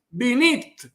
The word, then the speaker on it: binit: Pues el vocábulo, el término siciliano es pinita, pero como ustedes saben, en árabe la P no existe y la pronuncian B, por lo tanto, binit, ma es el término siciliano pinita.